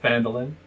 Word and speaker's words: Phandalin: I've heard there's like YouTube videos on how it's pronounced. We're gonna call it Phandalin.